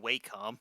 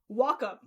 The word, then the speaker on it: Wacom: Just how you pronounce that? I don't think Waycom. Nope. Nope. I actually I actually got a demo. Want to know what how uh that's actually pronounced? Wacom.